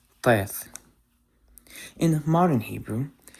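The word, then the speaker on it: טית: And speaking of the T, the next letter I'm going to talk about is the Hebrew letter Teth. Teth. In modern Hebrew, this is a simple T, just like the Tau.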